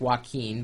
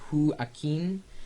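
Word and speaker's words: Joaquín: It looks like Joaquin, but he says Joaquin, and was born in Buenos Aires 15 years ago.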